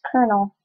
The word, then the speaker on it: Colonel: never going to happen this is actually pronounced colel so GNA keep that I'm